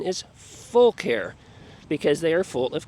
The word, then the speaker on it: Fucare: But the company told me the correct pronunciation is Fucare because they are full of care. They care about their customers. They just don't have the L in the spelling, but that is how you pronounce it.